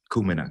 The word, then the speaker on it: Kumina: to make sure I get this uh is kumina correct yeah or kumina kumina good talk a little bit more about that